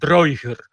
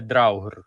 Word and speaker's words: Drager: написано давньоскандинавське слово Drager але вимовляє він його сучасними ісландським способом дрогер а не драгер як повинно було б бути А якщо ми говоримо